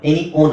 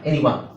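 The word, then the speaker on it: anyone: ನಾವು ಆ ಅಂತರ ಹೇಳಬೇಕು ಎನಿ ಒನ್ ಎನಿ ಓನ್ ಅಲ್ಲ ಎನಿ ಒನ್ ಇಲ್ಲಿ ಉಚ್ಚಾರಣೆ ಕೊಟ್ಟಿದ್ದಾರೆ ನೋಡಿ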